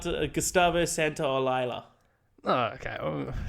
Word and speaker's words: Gustavo Santaolalla: I believe this is how you say it. I'm hoping that's how you say it. Not how you say it. Not at all? I was waiting for that. It's got Gustavo Santaolalla.